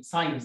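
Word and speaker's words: science: سي الاس سي هنا جاي وراها حرف الار، فهنطقهم عادي، دي ص ودي ك عادي سكرا ان، لكن هنا قلت ايه؟ قلت ساي ساينس، دي سايلنت.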